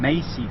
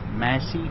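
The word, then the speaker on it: Massey: uh um Massie Ferguson I used to call him Macy Fergenson but then somebody corrected me and showed me that it's spelled Mas not M so that's Massie fer Ferguson um so we'll see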